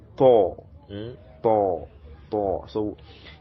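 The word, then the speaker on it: طاء: So we form a circle, sword, Thor. So a circle is being formed, Thor, Thor, as in tortoise, tortoise, Thor.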